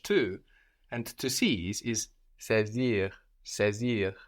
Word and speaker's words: saisir: And to seize is saisir. Saisir. This is spelled S-A-I. This A-I gives us E, like in nécessaire, saisir. And we have the S, S-A-I-S-I-R, pronounced like a Z, saisir.